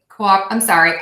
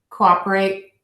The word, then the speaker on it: cooperate: micro organism micro organism if you listen carefully you'll hear that I make this o sound the schwa cooperate I totally messed that up cooperate cooperate cooperate it's sort of an up sound but um actually let